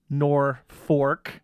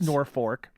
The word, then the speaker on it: Norfolk: I've been there and I think I know the right answer of how to pronounce nor fork yeah yeah well it doesn't look like nor fork but I believe it's Norfolk n-o-r-f-o-l-k so if you're not